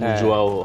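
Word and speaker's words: Ulloa: Jaime ভার্ডির ওই জায়গাগুলো আবার লিওনার্দো উল্লোয়া নামে একটা প্লেয়ার ছিলেন, উল্লোয়া এটার উচ্চারণ উজোয়াও হওয়ার কথা, ওই বেঞ্চ থেকে নেমে হেডমেট দিয়ে গোল করে দিতেন।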